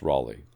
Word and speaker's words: Raleigh: those to be confused that's raleigh it's not ali i'm canadian canadian pronunciation we also want to